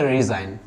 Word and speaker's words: resign: दुनिया का कोई भी वर्ड होगा, अगर एन से पहले जी आ रहा होगा तो आपको समझ आना है जी हो जाएगा आपका साइलेंट, राइट.